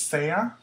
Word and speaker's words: sea: A lot of students will say si and Sean. If that helps you, then great. But just remember, that's not how you say it. Sea and sean.